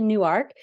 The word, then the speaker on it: Newark: So I live in Newark, Delaware, which is spelled like Newark, New Jersey, but it's actually Newark because when they made the